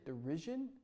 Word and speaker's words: derision: Derision? Yeah. Gosh, dang You it. were saying it like DERURRSION.